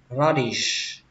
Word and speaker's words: radish: Cũng tương tự, các bạn lên dòng âm đầu tiên và xuống dòng âm thứ hai lettuce, kết thúc bằng âm s.